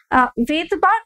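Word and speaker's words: Svedberg: এই দুটোকে ভেদবার্গ ইউনিট, যেটা এস, ভেদবার্গ বলতে ভি দিয়ে ভেবো না, ভেদবার্গের নাম বিজ্ঞানী ভেদবার্গের নাম শুরু হয় এস দিয়ে, এস এখানে সাইলেন্ট থাকে, তো সেই তার নাম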